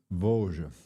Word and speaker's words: Vosges: on you should be able to hear that pronunciation. Let me see. Vosges Voge.